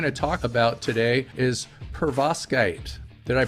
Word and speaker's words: perovskite: what we're going to talk about today is pervoskite did I pronounce it right pretty close perovskite yeah perovskite you know what's kind of cool about it